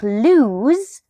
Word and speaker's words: lose: Words like lose has the same sound, the Z sound at the end, but use the letters S and E to create that sound.